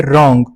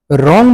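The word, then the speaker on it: wrong: इसके बाद जो हमारे पास वर्ड है रॉन्ग। रॉन्ग में जो है ना डब्ल्यू साइलेंट है।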